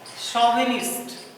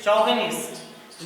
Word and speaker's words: chauvinist: शोविनिस्ट word जो हमारा है ये CH से शुरू होता है। यही कारण है कि लोग इसको प्रोनाउंसिएट कर देते हैं गलती से चौविनिस्ट, लेकिन ध्यान देना है इसका प्रोनाउंसिएशन में चौविनिस्ट नहीं होता है बल्कि शोविनिस्ट होता है।